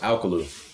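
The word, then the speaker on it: Alcolu: south carolina it's pronounced alkalu actually it's a little bit different kind of got like that southern slang to it small town uh so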